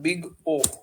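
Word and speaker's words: Big O: अब time complexity में एक सिंबल यूज होता है, इसको कैपिटल ओ से दिखाया जाता है और इसका प्रोनाउंसिएशन जो होता है ये होता है बिग ओ।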